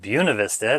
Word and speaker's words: Buena Vista: It should be pronounced Buena Vista anyway, but they pronounce it Buena Vista.